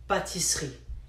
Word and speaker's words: pâtisserie: But it's spelled pâtisserie, but it's actually called pâtisserie. Nobody pronounces the letter E, okay?